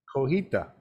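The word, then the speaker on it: cotija: parmesan but it isn't coheita the j is silent chef yes silent now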